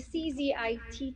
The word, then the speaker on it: CZITT: And the CZITT you mentioned is pronounced CZIT, and it means the Carbon Zero Institute of Trinidad and Tobago.